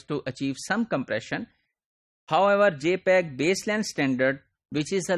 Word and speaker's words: JPEG: so for that what we use we use jpeg JP EEG this is pronounced as JPEG and this is standard developed